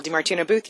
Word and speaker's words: DiMartino Booth: How do I pronounce that one? Danielle DiMartino Booth, you did very well.